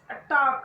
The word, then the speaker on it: talk: TALK, that is a talk, where TL is silent. Off, HALF, that is off. And calm, CAM, calm. Should, SHOULD, should. And would, WOULD, would. There is no L sound in these words.